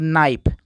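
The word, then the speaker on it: knife: नियम क्या होता है अगर के किसी शब्द के शुरू में हो और उसके बाद यन आए तो वहां पर के साइलेंट रहता है जैसे कि नाइफ आप यह समझिए कि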